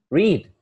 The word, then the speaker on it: Reid: Reid. Yeah, that's how you pronounce it.